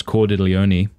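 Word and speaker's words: Cordileone: time and of course cordelioni that's how you say his last name is i always am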